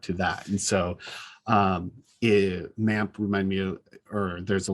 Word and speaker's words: MAMP: i've not tried with mamp is that what it's called i always forget how it's pronounced yeah it's mamp i i call it map m-a-m-p okay yeah and it's